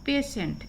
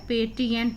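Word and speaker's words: patient: टी के बाद आई ई आता है तो उसका उच्चारण सा हो जाता है, सा। तो यहाँ पे ये पेशेंट शब्द है, पेटिएंट नहीं पढ़ेंगे हम इसको।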